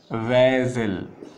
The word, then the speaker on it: vessel: इसे पढ़ते हैं बेजल, इसे क्या पढ़ते हैं वेजल, ठीक है। तो इसे ट्रैकीड पढ़ते हैं, इसे बेजल पढ़ते हैं।